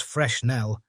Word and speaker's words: Fresnel: Fresnel lens, which is pronounced Fresnel, is frequently used to create fires with the sun.